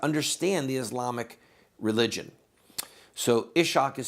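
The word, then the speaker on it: Ishaq: the translation of Muhammad's life by um iban ishak Ian ishak so if you want to invest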